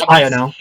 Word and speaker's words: Iono: be pronounced when It's Ino. It's Ino because like it sounds like Ino, and that's kind of her whole thing. Yeah. Plus, it has ion.